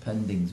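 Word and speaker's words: poindings: wasn't it pings yeah they called it pronounced pendings but it was written pings of course we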